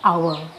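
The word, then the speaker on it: hour: जैसे इसमें इसको हम हावर नहीं पढ़ते, इसको पढ़ते आवर। हम 2 आवर्स, तो यहाँ अ की आवाज़ निकलती, आवर्स। तो यहाँ पे अ आवाज़ निकली, मतलब ये एच साइलेंट है।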